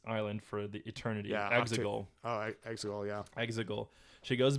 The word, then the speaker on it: Exegol: I'm going to mispronounce this island for the eternity. Yeah, Exegol.